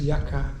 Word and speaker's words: Yucca: Y-U-C-C-A. 3:30 in the morning. Or Yucca. Y-U-C-C-A? You can pronounce it any way you want. Everybody there says Yaka.